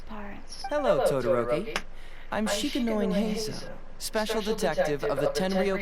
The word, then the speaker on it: Heizou: Because I know it's Zo, almost like, you know, like Wansuo. Like that, it's like Suo, but with the letters reversed and with a Z. It's Zo. It's Heizou.